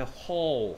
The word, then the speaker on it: whole: 그 다음에 whole 하면 전체의 전부의 라는 뜻입니다. whole 발음은 얘하고 똑같아요.